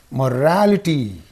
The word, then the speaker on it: morality: Morality. Morality. Because in this the suffix is in two. So this is the syllable preceding the suffix. Therefore you say morality.